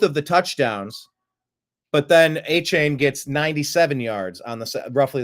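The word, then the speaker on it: Achane: How do you pronounce his name? A-Chain?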